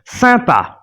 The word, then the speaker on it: sympa: YM is pronounced as the closed sound Sympa, the nasal sound But as for synonym, we can see YN or YN.